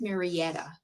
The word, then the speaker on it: Marietta: Okay, that's going to go to Brenda Towney from Marietta, Georgia. So, we have our first out of state winner. I think it's Maretta.